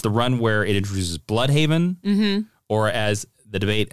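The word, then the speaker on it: Blüdhaven: run where it introduces bloodhaven or as the debate uh is bloodhaven bloodhaven um uh mr dan jurgens claims it is bluehaven uh well per the german pronunciation it should be bloodhoven so but um but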